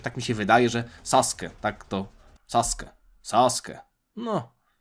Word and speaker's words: Sasuke: Ale oni nie czytają Sasuke, ale też nie czytają do końca Sasuke. Oni czytają Sasuke. Jakby to U było tam bardzo delikatnie zaznaczone.